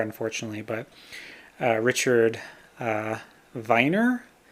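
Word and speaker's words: Werner: I haven't gotten very far, unfortunately, but uh, Richard uh, Viner. He's German, so you pronounce the W V, right?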